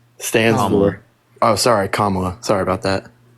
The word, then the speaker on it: Kamala: I don't really I don't really like what Kamala stands for oh sorry kamla sorry about that say that one time I